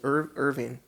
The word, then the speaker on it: Irvine: no actually craig was closer technically it was irving or irvin irvine why did i say it like that what the is wrong with me irvin yeah it was in irvine california 1962.